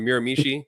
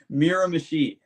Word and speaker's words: Miramichi: So when you look at how it's spelled, that's how you sound it out. It sounds it out weird.